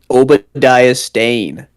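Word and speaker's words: Obadiah Stane: How do you pronounce his name? Obadia Stain.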